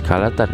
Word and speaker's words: Kha la Tan: Holotan is pronounced as Kalatan in Japanese, which imported Chinese character together with their pronunciation mostly in the 6th and 7th century.